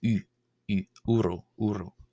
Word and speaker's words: ⲟⲩⲣⲟ: u u uh so the diagraph uh o absilon here is pronounced as u not w because it's coming before a consonant and therefore or simply representing a vowel sound. Uro uro meaning king.